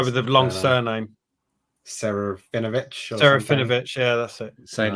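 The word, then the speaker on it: Serafinowicz: I can't pronounce his, the guy with the long surname. Serafinovich. Serafinovich, yeah, that's it.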